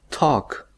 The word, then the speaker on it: talk: si ustedes se fijan la l no se pronuncia simplemente pronunciamos ta acá puedo decir entonces